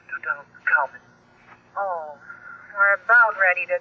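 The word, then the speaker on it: Tutankhamun: the name of King to of Egypt it's pronounced to Common oh we about ready to close almost 10:00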